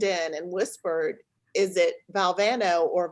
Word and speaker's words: Valvano: President Reagan leaned in and whispered is it Valvano or Valvano how you pronounce your name and he said well president it's Valvano that's how you pronounce it and then without you know just